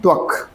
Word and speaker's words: त्वक: अभी कुछ लोग प्रोनाउंसिएशन भी सही नहीं कर पा रहे होंगे, कुछ पढ़ रहे होंगे तो कुछ और निकल रहा होगा, इसीलिए मैं बोल के बता रहा हूँ। स्तन, आर्तव एंड त्वक।